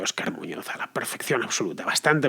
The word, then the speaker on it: Óscar Muñoz: En fin, yo, como podéis ver, pronuncio Óscar Muñoz a la perfección absoluta.